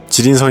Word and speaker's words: 지린성: 쓰면 하는 바람은 있네요 지린 성 이라는 이름이 gd 게 맛있어서 그런것도 있겠지만 원래는 중국 길림성 을 번체 식으로 발음하면 길림성 간체 식으로 발음하면 지린성 이라네요 여기는 매운맛을 어떻게 하는지